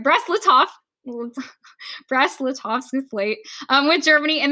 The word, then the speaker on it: Brest-Litovsk: So they negotiate the Treaty of Brest-Litovsk. I didn't say it right. Brest-Litovsk.